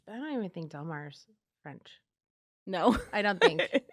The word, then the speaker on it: Del Mar: So more Spanish influence. Yeah. Yeah. Yes. Right. Yes. Yes. Less French. Less French. But I don't even think Del Mar's French.